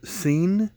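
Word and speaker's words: sene: samoa this is a one scene i think that's how it's pronounced s-e-n-e from 1974.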